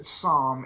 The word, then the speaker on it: Sahm: But there was a Fed member named Claudia Sahm, I think she pronounces it Sahm, S-A-H-M, from many years ago that had a